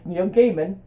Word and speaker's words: Neil Gaiman: you correct me i looked it up it's Neil Gaiman there's actually a video on YouTube Neil Gaiman tells you how to pronounce Neil Gaiman so yeah so this is